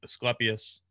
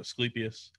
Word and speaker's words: Asclepias: always said for milkweeds, I've always said Asclepias, which I'm growing more and more leaning towards. I'm saying it wrong because I hear so many people call it Asclepias.